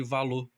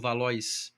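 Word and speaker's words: Valois: falar de Margot de Valoá. valoar a pronúncia a francesada que nós aprendemos na faculdade, mas temos chamar de Margot de Valô ou Valóis, como preferirem.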